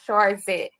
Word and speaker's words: Charzette: CH is silent, so you actually pronounce it SH, and the Yep. E is silent at the end, so it's Charzette.